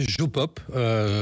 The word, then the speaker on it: JoPop: Alors, vous avez créé Jopop. J'espère que c'est comme ça qu'on le prononce.